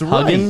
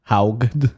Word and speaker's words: Haugen: Francis I'm not saying it's Huggin? right, but it's wrong. Is that Francis Huggin, I think. Hugen, I think her name How do you is. spell it? Haugen.